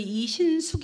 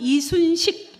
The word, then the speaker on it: 이신숙: 주신 우리 회장님이 와 제가 이름이 이신숙 이거든요 이신숙 발음 어렵죠 그래서 제 이름을 제대로 발음한 거를 처음 봤어요 거의 제 발음은 이순식 뭐 이순신 이렇게 반 발음을 하거든요 근데 우리 회장님이 제